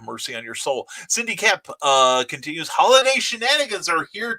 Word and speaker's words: Koepp: And I always spell her name out because it's pronounced Kep, but it's like, I thought it was Cope when I first saw it.